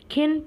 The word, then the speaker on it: Qin: Qin pronounced like Chin.